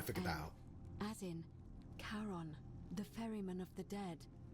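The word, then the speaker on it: Charon: It's just as you described it, only your pronunciation is a little off. The name you heard wasn't Karen. It was C H A. Yeah, I know. I figured that out. As in Karon, the fairyman of the dead.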